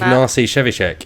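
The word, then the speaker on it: Ignacy Trzewiczek: Ignacy Shevchik.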